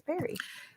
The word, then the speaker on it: peri: People say peri who were like around my age, and I'm like, did they mean pre? Are they saying it wrong? Oh, it's peri. Peri.